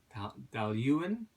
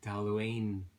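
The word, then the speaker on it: Dailuaine: Taluan, I believe. Taluan. Looks like Taluane in English, but anyway, Taluan.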